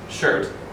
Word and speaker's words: shirt: So I told my students, you know, shirt, and I was thinking, how many problems are there with pronouncing this word? Because first of all, the American English pronunciation is shirt.